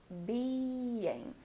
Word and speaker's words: being: Now the word being has 2 syllables, being. So be sure that you're making these vowels long and really well pronounced.